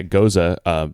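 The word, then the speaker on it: Gose: Another fun one for me is Gosa, which you hear people say goes all the time. Like so-and-so goes to the store is how they pronounce it. Yeah, Goza, and I actually have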